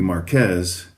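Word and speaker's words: Marqués: So this is a a vineyard called Marqu or Marquez. I would typically say Marqu even though the the exact that that would be more like the French pronunciation as far as I know.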